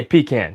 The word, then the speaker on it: pecan: I say pecan because P is P, and CAN is can.